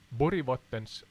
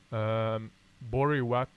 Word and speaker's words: Borgvattnet: This is Borgvattnets spökhus or Borgvattnet. Borgvattnet. Yeah, I'm trying to pronounce it in the English tongue.